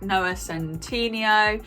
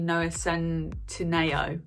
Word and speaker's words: Noah Centineo: ones like noah centineo even though apparently i've been saying that wrong it's actually no ascend to nao which i was like what when he pronounced that on this snapchat thing that i was watching i was like what i've been pronouncing it wrong this whole time uh so yeah noah